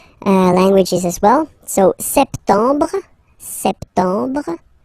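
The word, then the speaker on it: septembre: as well so September septum remember this you don't insist on the final uh septum septum then same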